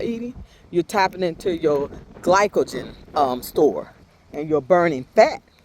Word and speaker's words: glycogen: I said glucosin last time, but it's glycogen is what we're tapping into when we're doing the fasted.